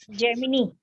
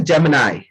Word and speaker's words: Gemini: जेमिनी. हाँ, इसको लोग जेमिनी पढ़ते हैं. So the real pronunciation of this word is Gemini.